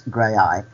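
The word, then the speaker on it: Graeae: it should be said it's gray I um which is spelled g r a e AE um but the song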